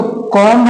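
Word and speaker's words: comb: अब ये तो कॉम है। अब बी साइलेंट कर दिए तो क्या हो गया? कॉम। अब बोलेंगे यहां पे हम टूम पढ़े, यहां पे कुम क्यों नहीं पढ़ेंगे?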